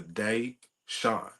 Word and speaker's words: DeySean: saying like it's literally so you see the day shine like you know it's like it's like separating the two words it's literally like that